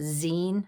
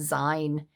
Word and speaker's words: zine: you call them a Zine I call them a sign um but I guess you pronounced some Zine and I'd love to